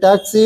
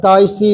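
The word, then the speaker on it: Taixi: You remember TAXI, taxi is K3 point. Don't pronounce taxi, but Taisi is the pronunciation.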